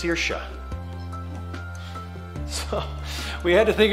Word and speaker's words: Circe: I found out that that's not how you pronounce that name it's circia so we had to think of a new